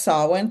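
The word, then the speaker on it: Samhain: So Halloween um you know we're going to talk a lot about that but sawin is the less known word and it's spelled like Sam Hayne but it's pronounced sawin.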